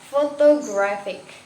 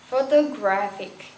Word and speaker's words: photographic: syllable the word and the other example is photographic on the third photographic okay the third is